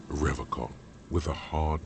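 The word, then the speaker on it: Revachol: one is you said river car i like to pronounce it the hard way the old way the vespertine way that's all he winks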